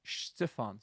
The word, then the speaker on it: Stefan: So that's why it's not Stefan, but because it's the nearest vowel to it is an I, so it's Stefan. So Stefan.